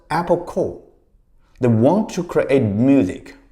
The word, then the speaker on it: Apple Corps: In 1968, they created a company called IPO Corporation spelled C O R P S but pronounced Apple Core.